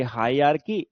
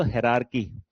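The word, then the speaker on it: hierarchy: पहला टॉपिक बच्चे आपका शुरू होता है यहां से, हाई, आपका ये हायरार्की, या अगर सही प्रोनाउंसिएशन बोलोगे तो हेरारकी, सही प्रोनाउंसिएशन बोलोगे तो हेरारकी।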